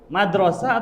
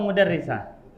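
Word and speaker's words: مُدَرِّسَة: tapi kalau di sini yang tepat itu madrasah atau mudarisah Nah mudarisah kenapa karena didampingi oleh thalibah Nam jadi kita bacanya mudarisah bukan Madrasah ya Syekh Nafiri n atikan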